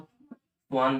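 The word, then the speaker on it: Schwann: एक तो हमारे पास क्या आए थे, मतलब सेल थ्योरी उसने दी थी, थियोडोर स्वान, स्पेलिंग इसकी ऐसे है लेकिन इसको स्वान बोलते हैं, थियोडोर स्वान, आगे का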